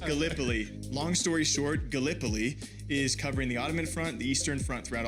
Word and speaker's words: Gallipoli: right because being from Iowa I said uh Galipoli and it's it is pronounced Galipol. Long story short Gallipoli is covering the Ottoman front, the Eastern front throughout all of this.